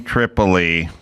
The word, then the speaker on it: Tripoli: And that's what you and and you heard that about Tucker Sam Tripoli. Spelled pretty much phonetically, right?